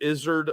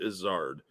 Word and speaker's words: Izzard: I say it well some people pronounce it Izard others pronounce it Izzard I've heard it both